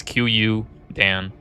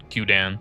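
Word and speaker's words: Qudans: But it's Q Dan. Qan. That's how you say it.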